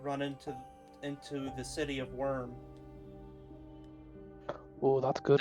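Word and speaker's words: Wyrm: into the city of Worm. oh, that's good. That's spelled W-Y-R-M, right? Or is that W-O-R-M? No, you got it right the first time. Oh, like dragons.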